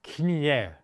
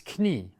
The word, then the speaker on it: Knie: leg, if you will, it's not Knie, it's Knie, das Knie.